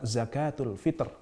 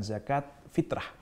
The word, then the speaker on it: zakatul fitr: Eh benar menurut beliau adalah pengucapan zakatul fitr bukan zakat fitrah zakat Fitri bukan zakat